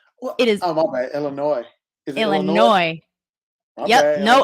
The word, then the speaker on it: Illinois: the S is solid the S is silent my dad always says there's no noise in Illinois which is a lie